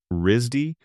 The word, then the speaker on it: RISD: The school is known informally as Risdy, pronounced like the word RZY without the second syllable,